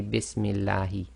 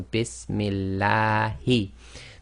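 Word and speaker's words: بِسْمِ اللهِ: You cannot say Bismillahi. It has to be too long, so Bismillahi.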